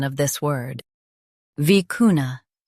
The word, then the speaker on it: vicuna: vicuna Now read the syllables shown on the screen naturally. vi cu na vicuna Stress cu and keep na light. It's a South American animal. vi cu na vicuna Stress cu and keep na light.